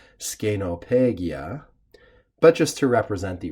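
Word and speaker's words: scenopegia: actually we should note the first and second e are long in Latin which means probably in Latin it would more correctly be said scano peggia but just to represent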